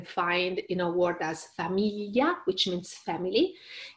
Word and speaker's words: famiglia: And it's very, very hard to pronounce. It takes a while to do that. You have to smile and push your tongue on your upper molar like you are scrubbing some peanut butter from them, and again smiling and say familia.